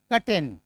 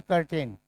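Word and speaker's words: curtain: न सी करेन हम क्या करते हैं आर के बाद क्या है टी अगेन साइलेंट क्या बोलेंगे कटेन क्या बोलेंगे कटेन नॉट करेन सी इसको क्या बोलते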